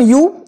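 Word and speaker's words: ewe: হবে অপশন এটার উচ্চারণ ইউ এটার উচ্চারণ ইউ কিন্তু এটা মানে তুমি এটা হবে না তুমি বা তোমরা এটা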